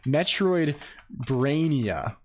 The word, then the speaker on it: Metroidvania: I did not verbally spell it wrong. It's Metroidvania. It's Metroidvania, which we have we have a Reddit for it.